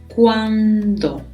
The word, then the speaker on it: cuando: one is fun one now hear the pronunciation if letter D is very important because a little bit later you'll see there is another question word that sounds very very similar to this one so let's be very careful with pronunciation here cuando cuando for example